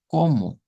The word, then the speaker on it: como: Que termina en O, pero se pronuncia como U. Aquí haríamos el cambio también. No debemos de hacerlo sonar como como. Debe ser como, como.